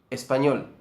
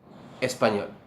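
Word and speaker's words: español: say Spanish in Spanish and the answer is espanol again espanol now if you look at the word espanol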